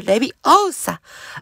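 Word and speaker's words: Leviosa: 正しくはレビオウサ、あなたのはレビオさ。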